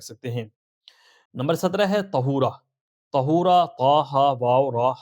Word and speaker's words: طہورا: بھی آپ رکھ سکتے ہیں۔ نمبر 17 ہے طہورا۔ طہورا، طا ہا واو را ہا۔ اب اس کی اسپیلنگ آپ درست اسکرین پہ دیکھ سکتے ہیں۔